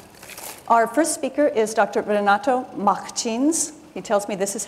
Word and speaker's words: Renato Martins: Renato Martins. He tells me this is how it's pronounced in Brazil.